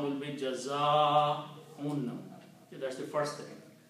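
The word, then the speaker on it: جَزَاءٌ: So this alif should be pronounced with a long mad. Okay? The sound will be Jaza'un.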